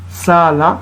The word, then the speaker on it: Sala: Sala, au lieu de dire Sarah, on prononce Sala.